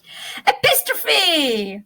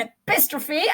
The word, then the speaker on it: epistrophe: Epistrophe. I do love an epistrophe, and that is how we pronounce it.